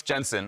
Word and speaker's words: Jensen: Jensen, and he's like, no, it's Jensen. I was like, oh, I know, that's your actual last name. But he almost like the first conversation we had was like correcting me like, no, you pronounce my name like an American, right?